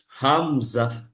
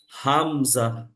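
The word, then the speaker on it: همزة: শুরু থেকে উচ্চারণটা হবে হামজা এবং হা এর উচ্চারণটা ঠিক একই জায়গা থেকে উচ্চারণটা হয় হামজা হামজা হামজার উচ্চারণ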